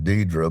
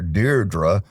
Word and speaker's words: Deidre: When I met her, she introduced herself as Deidre, but her mother calls her Deirdre.